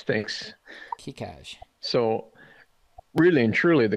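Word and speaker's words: Keicaj: Okay, I have no idea how to pronounce this, but K-E-I-C-A-J. You're going to have to help me. Yeah, it's Kikaj. Thanks. Kikaj.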